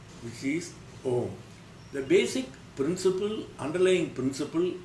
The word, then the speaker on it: Om: When you start pronouncing these words, you will find A starts from your mouth, U starts from your throat, Ma starts from your pit of the stomach.